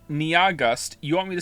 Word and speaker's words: Nyahgust: to spell it, NYAHGUST, has informed me that their name is only 2 syllables long. And I don't understand how that's possible. Nia is clearly 2 syllables on its own. And then after that, you have gust. Niagust. It's pronounced like August.